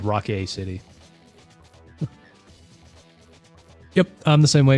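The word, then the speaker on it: Rockay City: So I assumed it was called Crime Boss Rocky City, but no, it's actually called Rock A City.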